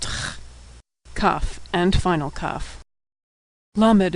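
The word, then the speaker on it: למד: Lamed is pronounced L as in lucky. Lamed.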